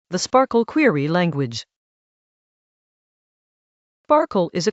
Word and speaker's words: SPARQL: It is an acronym for sparkle protocol and RDF query language pronounced sparkle. It predates cipher. And since cipher's pattern matching is borrowed from sparkle, they look quite similar.